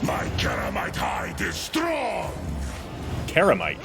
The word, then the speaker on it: Ceramite: Karamite, he says, not Ceramite. Interesting. Maybe that's just a Space Wolf pronunciation.